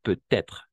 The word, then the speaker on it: peut-être: Pero se va a pronunciar peut-être con la T más. O sea, como liaison.